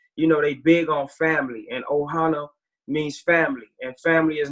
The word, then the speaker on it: Ohana: Yeah, so it's Team Ohana is how it's pronounced. Ohana? And yeah, it's Ohana. And so, oh man, y'all trying to make me be emotional.